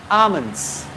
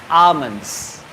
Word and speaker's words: almond: table comfort table vegetable almonds we don't speak el in the almonds almond almond cashew nuts